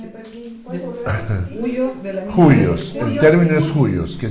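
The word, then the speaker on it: υἱός: Juyos.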